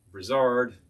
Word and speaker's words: Brizard: Now, if you want to hit some really nice brands like Giffard, Brizard, other things that rhyme with ard, you'll find some really good stuff.